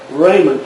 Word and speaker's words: Ramon: oh yeah Raymond Kennedy spelled r-a-m-o-n like Ramon and what they always pronounce it Raymond Kennedy took took over